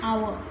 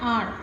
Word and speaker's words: hour: An hour. An hour. Okay, an hour. Here H is silent.